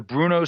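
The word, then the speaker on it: Bruneau: the next morning um the Bruno sand dunes it's a couple hours away maybe 3 hours away these massive sandunes that's spelled b r u NE Au U and I think they're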